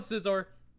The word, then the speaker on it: Scizor: Scizor, whatever. Skizor. I don't think it's Skizor. I've heard so many people pronounce it. I call it Scizor.